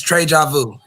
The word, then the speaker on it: Trey Ju: So it's it's Trey Ju. So you you said you said it right. Like like deja vu.